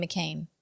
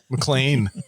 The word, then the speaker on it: McClane: pulling a Kadish and you keep pronouncing his name wrong and it's making me crazy. It's not McClane? It's McLean. You keep saying McCain. Do I say You McCain? do. You're saying John McCain.